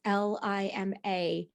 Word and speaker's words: Lima: I don't know how to pronounce her last name, if it's Lima or Lima. It's Lima.